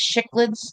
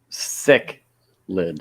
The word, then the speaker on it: cichlids: Yeah, sick lid. I know what they are. Cichlids. It's not CH. It's S. I'm blaming you for some fish, Terry. CH in Latin is pronounced hard S.